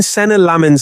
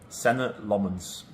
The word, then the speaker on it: Senne Lammens: When Senne Lammens signed for Manchester United, most fans didn't even know how to pronounce his name. How do you pronounce your name? Senne Lammens.